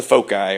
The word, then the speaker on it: foci: less things to find that's the foci or the folks side depending on how you say it I suppose to do this